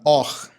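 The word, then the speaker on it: אור: Então é assim, a palavra hebraica luz, que é a palavra or, é a mesma pronúncia ou a mesma palavra que significa também pele, or.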